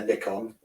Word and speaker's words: Nikon: a big camera a nickon thank God you pronounce nickon correctly unlik my American friends um and I've got